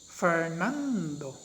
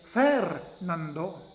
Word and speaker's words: Fernando: we do not say fair nando we do not say fernando we say fernando our voice is raised a little bit higher on the second syllable which is none so